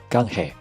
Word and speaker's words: canje: 要的西班牙语单词 "canje"，很像中文赶海的发音，千万别读成坎捷。